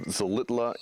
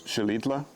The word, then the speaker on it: Xilitla: high mountain town of Xilitla in central Mexico. You realize you've been saying it wrong. It's Xilitla.